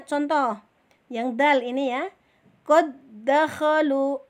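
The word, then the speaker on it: قد دخلوا: Contoh yang dal ini ya, qad dakhalu. Nah, qad dakhalu tulisannya yang ada 2 dal, yang satu dalnya mati, yang satu bertasjid. Maka dal yang pertama kita leburkan, kita tidak anggap ya,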